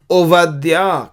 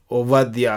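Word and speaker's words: עובדיה: और ओबद्याह को ओवद्या कहेंगे, ओवद्या, क्योंकि ये जो दूसरी अक्षर है बेत, यहाँ पे एक डॉट लगा है तो बा होता है, वो डॉट नहीं तो वह होता है।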